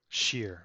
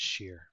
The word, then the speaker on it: shire: it lincolnshire or lincolnshire lincolnshire here lincolnshire yep sheer s-h-i-r-e is sheer yep right got it link and share what